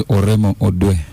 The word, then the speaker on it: Oremo Odwe: Is that the correct way to say the name? Yes, the name is Oremo Odwe.